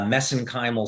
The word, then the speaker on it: mesenchymal: print pronounce this uh mesenchymal stem cells uh because that's how they pronounce it in Ireland so that's how I pronounce it but but the actual